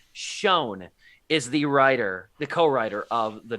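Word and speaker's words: Sjón: I made sure to double-check this pronunciation. Schoen is the co-writer of The Northman.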